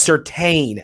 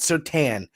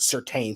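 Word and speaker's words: Surtain: go down to the secondary patrick's and it's pronounced certain not so tan certain and said it's actually pronounced certain so patrick certain was literally drafted just you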